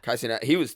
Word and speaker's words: Kai Cenat: Kai Cenat.